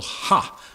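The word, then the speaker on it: ὁ: And in the Greek, if you have that definite article ha, H, it's just the letter O with a breathing sound. It's pronounced ha, H-A.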